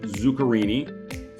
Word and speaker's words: Zuccarini: are uh honored to have with us zukini from vested medals International have I said all